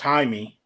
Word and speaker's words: Jaime: I think it's pronounced Jaime. It's Mexican, and that J becomes an H.